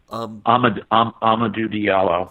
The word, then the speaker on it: Amadou Diallo: Going back to Amadou Diallo, am I pronouncing his name correctly, DJ? You would know. Amadou Diallo.